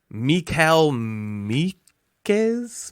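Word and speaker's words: Michal Mikeš: Their names are actually Mikal Mikes with a line over the S in Meek and Mikes. Okay. So it's not Michael Mikes, it's like Mikal Mikes. Which probably changes the pronunciation from like Mikes to like Gorbachev.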